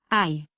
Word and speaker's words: hai: It sits there and says nothing. O, ai, a.